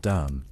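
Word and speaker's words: D'mt: Before Aksum, before Ethiopia was even called Ethiopia, there was a kingdom called Dum, pronounced Durm, Damat, by those few who even remember the name.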